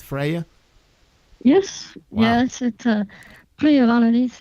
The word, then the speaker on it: Freya: Am I pronouncing it right, Freya?